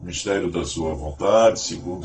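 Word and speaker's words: μυστήριον: A palavra mistério pronunciada mistério no original grego de um derivado deil significa fechar a boca.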